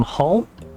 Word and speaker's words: Hull: Um h well I live up in the northeast of England so King on Hull or if you're local you don't pronounce the H. You just say all but I am I